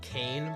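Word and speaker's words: Kayne: rhyme is named Kain, but it's spelled K A Y N E.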